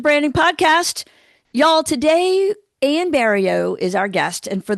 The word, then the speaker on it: Barilleaux: Y'all, today Ann Bario is our guest. And for those who are not familiar with uh Louisiana names, I'm sure you were wondering how to pronounce her last name. It's burrio and bank advertising is one of those complex